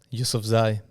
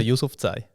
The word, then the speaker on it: Yousofzai: Ja, auf Afghanisch aussprechen. Yusuf Zai. Yusufai. Bro, ich bin Afghaner. Und Schweizerisch ausgesprochen Yusuf Zai. Ja. Ja, aber ist eigentlich einfach. Yusuf und Zai. Der Sohn von Yusuf.